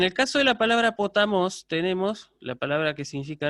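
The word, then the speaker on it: ποταμός: Yo esta palabra la voy a pronunciar, por ejemplo, la palabra potamos, que aparece acá, la voy a pronunciar potamos, ¿sí? Elevando el tono.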